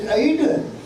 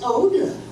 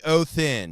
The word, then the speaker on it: Odin: That's not the old pronunciation. The old Norse word for Odin is this, and pronounced roughly Othin.